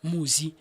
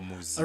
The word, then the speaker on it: Mmusi: The reason behind that was a lot of people till today mispronounce my name. Okay. Right. So lina laka ke Mmusi. But who out there will go Musi or Musi. Oh, Mmusi. Right. So how I want them to say it, to pronounce it, is based on how I spell it. Okay. To make it easy for you and sound it out the way you read it.